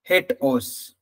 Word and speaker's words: HATEOAS: It is pronounced differently. HATEOS or HATEOS. Many people pronounce it in different ways.